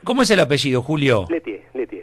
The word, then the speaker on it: Lieutier: Letier. Letier, ahí está. Bien pronunciado.